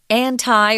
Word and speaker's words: anti: Well, they've always promoted anti or anti-smoking. You can pronounce that word both ways. Anti, anti, they're both correct.